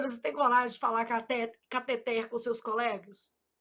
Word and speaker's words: cateter: Eu falo: "Júlia, você não é daquelas médicas que fala catéter, não, né? Porque sua mãe é professora de português. Foi com esse dinheirinho que ela pagou os seus estudos. Então você vai falar catet, ela fica rindo."